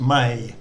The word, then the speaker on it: Mae: of is the actress mae west who spoke her name m a e she spelt it that way but it was actually pronounced may m-a-y so if if you're